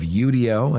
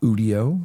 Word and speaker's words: Udio: It's not Udio, it's Udio.